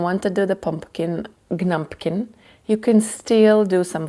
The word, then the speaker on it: Gnumpkin: One is Gnumpkin, another one is Gettle. She does that. They always have a silent G at the in the beginning of the word in the name.